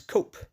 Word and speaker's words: cop: i.e a rubbish dump in some parts of ulster it is pronounced as cope in north antrim the